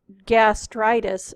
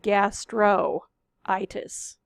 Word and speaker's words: gastritis: So it is gastritis, not gastroitis.